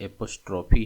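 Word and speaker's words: apostrophe: दूसरा आप देखिए तो एपॉस्ट्रोफी है। इसमें भी ई साइलेंट नहीं है।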